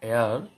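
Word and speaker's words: heir: কারণ প্রত্যেকটা শব্দ এইচ দিয়ে শুরু, কিন্তু এই এইচটা উচ্চারণ ভাওয়ালের মতো, অর্থাৎ এইচের উচ্চারণটা সাইলেন্ট।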